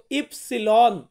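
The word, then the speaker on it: ipsilon: ওয়াই, ওয়াই, এই ওয়াই কে আমরা বলবো ইপসিলন, ইপসিলন মানে হচ্ছে ওয়াই, কি মানে ওয়াই, ইপসিলন মানে ওয়াই।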